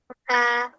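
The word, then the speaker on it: ت: জিহ্বার আগাটাকে উপরের দুই দাঁতের গোড়াতে লাগাতে হবে এভাবে। আহ, এমন তা করো সবাই, এমন করো। তা হামজা করতে এভাবে।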